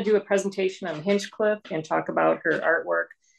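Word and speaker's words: Hinchliffe: There's no C after the Hinch.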